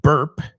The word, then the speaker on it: burp: Now, I know you might know the word burp, right? De hecho, es onomatopeico. Burp. B-U-R-P. Se pronuncia más como B-E-R-P.